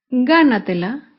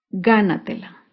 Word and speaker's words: gánatela: con la palabra gánatela gánatela se acentúa en la sílaba anterior a la antepenúltima sílaba gánatela algunos ejemplos de palabras